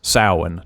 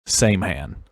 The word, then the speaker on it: Samhain: That's pronounced Samhain, not Samhain.